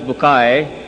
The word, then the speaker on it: Bucaille: and an honor for me to introduce to you a eminent scientist and a scholar of puran Dr. Morris Bukail pronounced as Morris Bukay am I right doctor